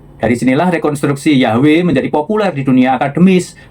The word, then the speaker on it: Yahweh: Jadi, pelafalan Yabe dalam tradisi Samaria itu adalah kunci bagi Gesenius untuk menyimpulkan bahwa YHWH kemungkinan besar dulu diucapkan Yahwe bukan Jehova. Dari sinilah rekonstruksi Yahwe menjadi populer di dunia